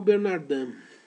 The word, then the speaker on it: Bernardin: Pascal Bernardin, se escreve Pascal, não tem nenhuma dúvida, né? Pascal, P-A-S-C-A-L. Bernardin é um nome francês, então se escreve Bernardin, com I-N no final.